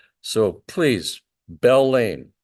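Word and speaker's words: Beall: boxes were taken by this guy Robert Vinton Bell Jr no I did not miss pronounce it you might be familiar with uh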